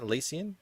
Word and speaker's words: Elysian: of elysian fields uh is that how you pronounce it elysian or is it yeah you're all good man